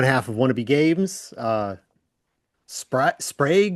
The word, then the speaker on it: Sprague: Uh but welcome people that it's pronounced nothing like Prague and that does not help them.